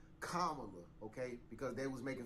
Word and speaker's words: Kamala: now is because if camela Harris oh let my bad comma okay because they was